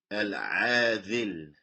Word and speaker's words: العاذل: And it emanates from a vein that is called al-adhil. Al-adhil. This vein, يسمى al-adhil. نعم. Which is spelled alif, lam, ain, alif, ذل, لام. عاذل. نعم.